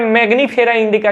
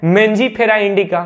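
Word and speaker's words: Mangifera indica: अच्छा भाई मैग्नीफेरा इंडिका नहीं है, मेंजीफेरा इंडिका है। इसका शुद्ध प्रोनाउंसिएशन ग्रीक में है मेंजीफेरा इंडिका। मैंने हर जगह देखा है, मैंने ग्रीक बुक भी देखी है, उसमें दिया है मेंजीफेरा इंडिका। मैग्नीफेरा नहीं है, मेंजीफेरा है।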